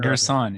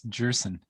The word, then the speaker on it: Gerson: We've just been corrected that his last name is pronounced Gerson. It's not Gerson, it's Gerson.